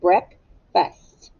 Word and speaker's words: breakfast: for breakfast all right now breakfast has two syllables break fast but it's tricky because the ea you hear the short e sound instead of the long e sound break fest and on first you don't hear an a you hear i think it sounds like a short you breakfast some of you